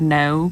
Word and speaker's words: know: Even like the word know, K-N-O-W, has a reason why the K is silent.